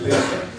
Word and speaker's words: Lyndon: Lyndon, not Lyndon. Lyndon. Yeah, like the town.